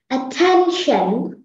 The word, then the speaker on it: attention: Attention.